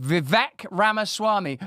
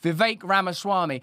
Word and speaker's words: Vivek Ramaswamy: will speak freely with Vic ramaswami VI excuse me I mispronounced that a little bit VI that's how I think it's correctly said let me know in the chat will you Viv ramaswami we're going to be